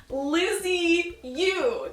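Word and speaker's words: Lisieux: you told me that the way to pronounce it is st. Teresa dad Lizzy you say Liz ooh Lizzy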